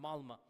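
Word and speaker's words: Malmö: Malma is is spelled with an O, but it's pronounced Malma.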